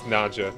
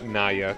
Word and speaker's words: Naja: Cobra is the Naja I believe it's Naja not nya because it's from Sanskrit kind of which is like Naga Naga that's what I'm time